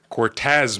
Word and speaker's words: Cortez: Okay, but you said it wrong. You said Cortex. Cortez makes sense, okay?